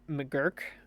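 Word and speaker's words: McGuirk: And then up next here is McGurk Arena, I believe is how you pronounce it.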